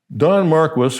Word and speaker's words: Don Marquis: So, Don Marquis, which is how that's pronounced there, whenever a man tells you that he got rich through hard work, ask him who's.